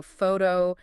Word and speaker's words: photo: Like you were saying, you know, photo stresses at the beginning.